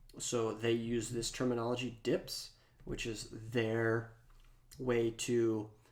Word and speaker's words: dp: And density independence in material design is commonly pronounced as DIPS, which is the abbreviation DP here, written as DP and pronounced as DIPS.